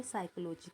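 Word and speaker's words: psychology: मनोविज्ञान को इंग्लिश में साइकोलॉजी कहते हैं, लेकिन हम देखेंगे ये तो पी वर्ड से शुरू होता है, लेकिन इसमें पी साइलेंट होता है।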